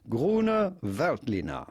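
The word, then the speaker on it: Grüner Veltliner: the French winemaking guy who makes wine videos, and we are looking at how to pronounce the name Gruner Veltliner. Gruner Veltliner.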